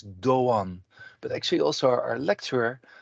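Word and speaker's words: Erdoğan: and now this is the the the g it's not a g it's actually a non-silent one so uh for instance the name erdogan so it's doan but actually also our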